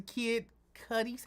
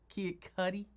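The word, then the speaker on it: Kid Cudi: And they went to Kid Cuy's house. Is that how you say his name? Kid Cuddy. Cuddy. Cuddy.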